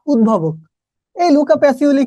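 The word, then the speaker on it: Pacioli: সেই পাগলটাকে Luka প্যাসিওলি। এটাও আছে, আবার প্যাসিলিও আছে, তবে এটাই অ্যাপ্রুভ না।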